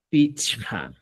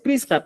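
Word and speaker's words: pichqa: Pichca. ¿Ya? Pichca o pichca. Pronunciación, sí puedes variar. Puedes decir pisca, pisca tabrauni. Pero tu escritura, estimado, tiene que ser pichca.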